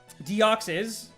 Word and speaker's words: Deoxys: Pronounce it however you want, you know? Deoxys, 100%.